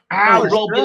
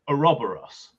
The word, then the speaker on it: Ouroboros: Our Rob sure. Electrical. This strikes you as curious because you figure he can't pronounce Ouroboros. Sorry, he's saying Ouroboros Yeah, electrical. Snake. Okay, but he's mispronouncing that word.